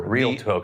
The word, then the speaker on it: Realtor: Realtor. The additional A that people add is silent, so it's Realtor.